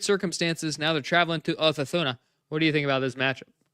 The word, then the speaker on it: Osasuna: Yeah, it's got to get the Madridista pronunciation there. Osasuna. Osasuna.